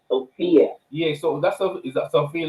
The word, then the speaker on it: Sophia: My name is Sophia, just like the movie actress, Sophia.